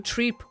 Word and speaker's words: Trepe: Titus and Titus, and because of Turipu, Treep or Trep are both acceptable.